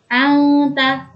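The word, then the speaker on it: أنت: Samar itu seperti menambahi huruf eng. Coba kita praktekkan. Anta. Ketika kita menginjakkan kaki di huruf nun sukun, maka disitulah kita langsung persiapan memasuki huruf ta. Anta, anta, anta. Dan seperti terdengar huruf eng.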